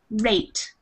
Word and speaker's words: rate: So sometimes in English we have a rule, you could say, that when there's an E, we call it the silent E at the end of a word, then the vowel is long, and so you say the name. So for example, the word rate, which I'm writing up